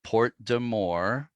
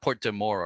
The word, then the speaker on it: Porte des Morts: I didn't say that quite right. But Porte de More, this name of the strait. And I think that may be approximately how local people pronounce it.